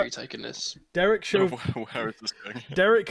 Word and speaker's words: Chauvin: I think it's Chauvin. Chauvin, yeah.